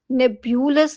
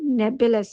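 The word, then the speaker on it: nebulous: नेब्यूलस, नेब्यूलस नहीं है, नेबुलस है, नेब्यूलस, जिसका मीनिंग होता है अस्पष्ट।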